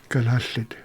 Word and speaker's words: Kalaallit: And I can't say how do you pronounce the tribe? Kalaallit. Kalaallit.